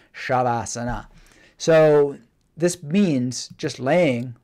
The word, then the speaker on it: shavasana: thing call it shavasana sometimes spelt with an H sometimes just with an S but even with just an S it's apparently in the in the sanskrit spell earth pronounced shavasana so this means just